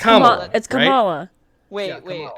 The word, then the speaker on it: Kamala: kamala's harris name is that it kamala harris kamala harris it's kamala right yes yeah okay cause